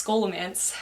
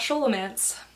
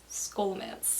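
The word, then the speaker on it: Scholomance: to pronounce this word it's scolomance not show romance skolamance deadly education is following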